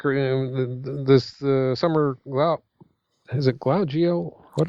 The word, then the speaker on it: Glau: This Summer Glau, is it Glau? G-O? What the hell do you spell it? G-L-A-U, Glau.